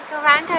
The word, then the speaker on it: Gauranga: Gauranga is an ancient mantra. It's consisting of four syllables, which are Go, Ra, An, Ga.